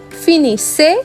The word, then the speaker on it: finissez: Pay special attention to the double S sounds in the plural forms. Finissons, finissez, finissent.